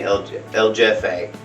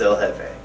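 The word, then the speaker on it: El Jefe: named the production company ljf8 and i know it's a wrong pronunciation i know it's l hefe i didn't know that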